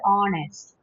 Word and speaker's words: honest: H is silent. Okay. Okay, ma'am. H is always silent in the word honest.